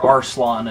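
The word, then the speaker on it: Arslan: called heroic Legend of arlong or arslon as they insist it's pronounce whatever you know engrish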